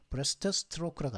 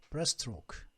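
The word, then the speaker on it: breaststroke: 그럼 발음을 브레스트 스트로크라고 안 한다니까요. 스트로 끝나고 스트로 시작하면 브레스트로크. 스트는 한 번만 발음해 줍니다. 브레스트로크라고 발음해 주죠.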